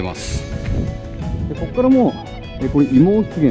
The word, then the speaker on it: 葦毛湿原: ますここからもう妹源って読むんですけれども出現まで